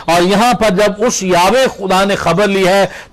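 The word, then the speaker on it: Yahweh: جمع کا نام ہے، یاوے جس کا لفظ ہم عبرانی زبان میں اس کا شاید صحیح تلفظ یاوے بنتا ہے۔ تو یاوے یا یہوہ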